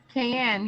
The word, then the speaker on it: Kayan: Is it Kayan? Am I saying that name right? Kayan or Kayan? Yes, Kayan. Yes, you said it right.